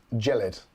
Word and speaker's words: Gelid: So apparently it's pronounced Gelid.